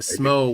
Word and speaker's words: Smo: What does Smo rhyme with? A number of things. Yeah? Can you think of a famous poet whose last name rhymes with Smo? It's not I.P. Daly. Quoth the Raven. Charles Snow. Edgar Allan Poe.